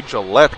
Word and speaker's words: Gillette: four to two as gillet gets the goal it'll be Gillette getting the goal I should say not gillet it'll be a soft G and right after the